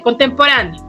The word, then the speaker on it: contemporáneo: Por ejemplo, dice contemporáneo. La sílaba ra nos dice que es la sílaba tónica, ¿no es así?